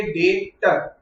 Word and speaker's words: debtor: B silent होता है, pronunciation में अपन बी नहीं बोलते, तो DEBTOR स्पेलिंग में बी आता है, पर अपन प्रोनाउंसिएशन में क्या बोलेंगे? डेटर।